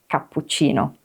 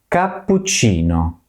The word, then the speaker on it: cappuccino: at the beginning of cappuccino. But when it's followed by the letter I or E, it's a soft ch, like in the last part of cappuccino. Cappuccino.